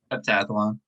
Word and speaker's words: heptathlon: Heptathlon.